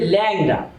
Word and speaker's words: লেংরা: যেমন ব্যাং উচ্চারণ হবে ব্যাং, টেংরা উচ্চারণ হবে ট্যাংরা, লেংরা উচ্চারণ হবে ল্যাংরা।